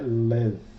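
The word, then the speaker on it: לֵב: O beit aqui está com som suave de V, porque ele está sem o pontinho aqui, sem o dagesh, né? Então aqui é lev.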